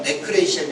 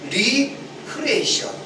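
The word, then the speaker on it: re-creation: 그래서 여기 우리 되살리다는 말은 레크레이션이 아니고 리크리에이션 그렇게 발음하게 됩니다.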